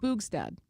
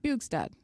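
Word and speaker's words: Bjugstad: Bugsad, I want to pronounce it correctly. Boostad. Bugad. Bugad, thank you.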